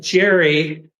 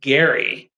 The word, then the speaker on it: Gerry: I know that Jerry, which is how most of us pronounce it, is correctly pronounced Gary.